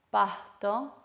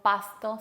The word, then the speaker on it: pasto: Otros ejemplos son mosca, no decimos mosca, sino mosca. Pasto, no decimos pasto, sino pasto. O fiesta, no decimos fiesta, decimos fiesta, ¿sí? Un poquito más aspirado.